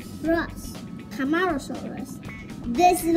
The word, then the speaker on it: Camarosaurus: Seca, ma, o, Ross, Camarosaurus.